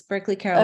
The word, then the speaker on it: Berkeley Carroll: from the Berkeley Carol uh School am I pronouncing that correct Chris yes Berkeley Carroll okay yes and that's in New York we're